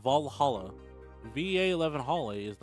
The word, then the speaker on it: VA-11 HALL-A: don't know don't care VA 11 Hall the name sounds silly and a bit hard to pronounce good thing it's actually called Valhalla va1 Hall is not